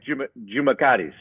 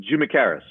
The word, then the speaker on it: Tjoumakaris: Well, the Greek way is Tjoumakaris, but Tjoumakaris is how we say it.